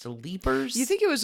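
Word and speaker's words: Leiper's: IP no r apostrophe s but it is pronounced to leapers do you think it was a French guy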